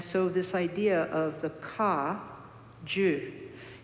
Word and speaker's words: Kagyu: And so this idea of the ka, ju, G-Y-U as we spell it in English letters, means lineage.